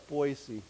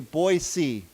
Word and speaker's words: Boise: But I was informed by my friends from this place that the correct way to say it is with a s sound, not a z sound.